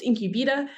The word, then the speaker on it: Incubeta: have taken cautions um but ultimately it is pronounced incub um we are a digital advertising agency and